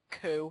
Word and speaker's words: Coup: have recently just made Coup. Has anyone heard of it? Nope. It's, well, the way you spell it is C-O-U-P. Oh, okay. But still, no. The French term for coup.